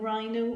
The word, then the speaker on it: rhino: isn't that right so we had words like Rhino or rhinoceros which are spelt or H I and O okay but we can't hear H so it is a